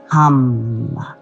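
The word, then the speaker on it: ham: So it's just like om, but it's H-A-M, pronounced hum.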